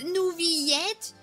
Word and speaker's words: Neuvillette: to pronounce them correctly it's n yet and risle I'm like [ __